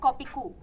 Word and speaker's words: Kopi Koe: Jadi tulisannya kopi koe, dibacanya Kopiku.